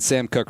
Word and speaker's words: Koch: Is he better than Sam Cook right now? Who? The Ravens punter. Oh. The Ravens punter is Sam Cook? Yeah. Well, it's spelled Koch, right?